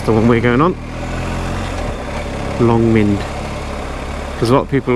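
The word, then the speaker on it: Long Mynd: Longmind, that's the one we're going on. Longmind, because a lot of people always email me saying, oh, where do you go?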